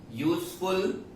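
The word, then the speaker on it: useful: यहां पे यू है, लेकिन ये यूजफुल को जब हम प्रोनाउंस करते हैं तो यू मतलब य का साउंड आता है।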